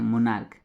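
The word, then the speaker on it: monarch: जैसे कि देखिए यहाँ पे है मोनार्क, मोनार्क माने राजा, तो मोनार्क का प्लूरल क्या हो जाएगा?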